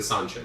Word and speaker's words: Seanchan: Total aside, but Seanchan equals Seanchan. Rhymes with Lon Ann.